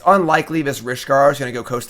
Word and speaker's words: Rishkar: Rishkar kind of rhymes with Reptar.